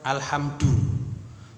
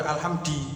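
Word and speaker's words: الحمد: maka di awal kalimat alhamdu jangan kita tiba-tiba baca alhamdi gitu tiba-tiba baca alhamda Nah kita bacanya alhamdu Nah kenapa kita alhamdu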